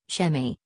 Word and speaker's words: Sa.A.Me: Sirius C was once orbited by a planet, which by its inhabitants called Sa.A.Me, pronounced Shemi, a body approximately six times bigger than Earth.